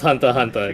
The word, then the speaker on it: Hunter x Hunter: something you shut up it's pronounce Hunter Hunter the ex is silence Hunter Hunter um n